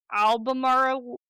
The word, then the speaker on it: Albemarle: The symbol appeared to indicate a fort inland near Albemarle. That's how I think it's pronounced.